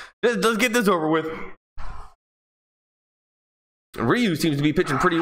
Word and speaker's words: Ryu: Nicholas Baltzal, it's Ryu.